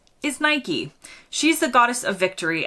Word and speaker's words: Nike: would you say it rhyming with bike or rhyming with biky if you rhyme it with bike you're likely British not everyone I've encountered in the UK says it this way but it's a very popular pronunciation in the US we say almost without fail or exception Nike now the Americans have